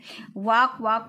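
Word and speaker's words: walk: वॉक mean चलना होता है, टहलना होता है, इसमें L साइलेंट है।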